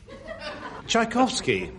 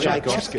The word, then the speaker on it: Tchaikovsky: Tchaikovsky, backwards... Oh, no. Sounds like Iswakiact. Or David Nixon. You put a T on the end. Well, there's a T on the front of Tchaikovsky. It's pronounced a ch.